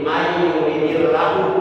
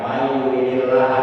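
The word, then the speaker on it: مَنْ يُرِدِ اللَّهُ: Jadi mayuridillahu bukan mayurilaha salah. Sebab itu kedudukan kalimatnya tarbul kalamnya jadi akil dari fiilnya dapat yurid. Jadi kalau umpama ada yang baca mayuridillaha itu salah kalau dibaca nas.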